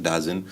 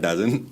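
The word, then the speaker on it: DAZN: a minor stake in Dazin D ZN Dazzen the people have a lot of announce uh pronunciations for that but I call it Dazin.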